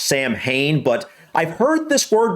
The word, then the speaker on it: Samhain: However, historically, Halloween, or more accurately, Samhain. Samhain. Wow. Okay, so it's pronounced Samhain, and something I'm getting quickly from those few clips there is that this may be the actual original Halloween.